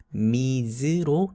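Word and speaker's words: Ms.: 그래서 요즘에는 미즈로 통일해서 쓰는 경향이 강합니다. 미스로 발음하기도 하고 미즈로 발음하기도 하는데 미즈 정도에 가깝게 그 둘 사이에 애매한 정도의 발음으로 발음하면 되겠습니다.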